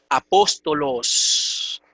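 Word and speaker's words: ἀπόστολος: palabra es sturla pero como la esta última sílaba es larga el acento se mueve de la antepenúltima a la penúltima apóstolos caso dominante acusativo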